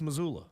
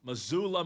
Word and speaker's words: Missoula: That's pronounced Missoula. Missoula Montana.